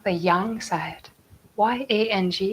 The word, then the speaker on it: yang: this we call the young side why ang in chinese is pronounced young young think of the